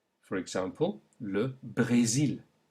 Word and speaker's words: Brésil: For example, le Brésil. Note the kind of E sound. Le Brésil. Try it again. Le Brésil.